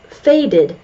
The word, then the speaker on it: faded: there's only one E and it is faded faded faded it sounds like did did did these are the only